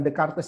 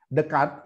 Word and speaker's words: Descartes: Maka seorang yang bernama Descartes bacanya itu bukan Descartes ya, Descartes ya.